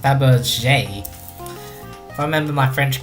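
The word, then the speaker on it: Fabergé: showing actually I think it's supposed to be pronounced Faberge I remember my French correctly if you have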